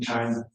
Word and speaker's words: chi: Was that a portion of like, is it chi?